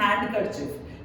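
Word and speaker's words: handkerchief: को हम बोलते हैं हैंड कर चफ पर हैंड कर चफ में डी बीच में साइलेंट है राइट तो इट इज हैंड कर चफ माय हस्बैंड इज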